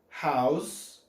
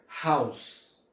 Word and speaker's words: house: Lembrando que, uma dica para vocês, sempre que em inglês uma palavra terminar com um simples E, ou seja, ele não seja duplo, ele não é pronunciado. Não é pronunciado, ou seja, esse sonzinho só vai até o S.